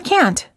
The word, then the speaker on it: can't: you say can or can't the silent T is one of the reasons why you may have a hard time hearing the difference between the words can and can't instead of saying I